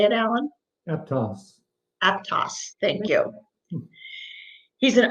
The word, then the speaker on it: Aptos: Aptos.